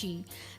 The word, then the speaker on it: Qi: energy of the body we call Chi in Chinese it's spelled Qi what is pronounced Chi that and your blood